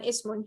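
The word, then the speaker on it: اسم: Here it has the kasra, so we can pronounce it. We pronounce it ibnun and ismun.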